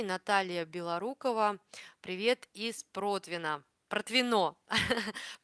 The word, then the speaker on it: Протвино: Протвино. Протвино. Я помню, что ударение, да, на последнюю О.